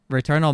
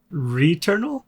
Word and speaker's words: Returnal: oh my god let me tell you guys return all might be my game of the year already re-eternal yeah no returnal returnal yeah i don't know